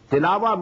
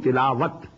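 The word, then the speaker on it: تلاوة: Tilawa means to recite, which we call in Urdu tilawat. In Arabic we have to pronounce it as tilawa.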